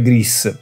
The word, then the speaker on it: Grease: Che la pronuncia sarebbe Grease, però vabbè.